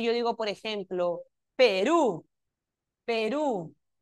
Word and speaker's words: Perú: Perú, ¿dónde está el acento en la palabra Perú? ¿Está en la última sílaba o en la penúltima sílaba? Es Perú o Perú. En la última, ¿verdad?